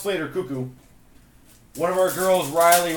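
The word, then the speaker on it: Koekkoek: I know it's pronounced Slater Cuckoo.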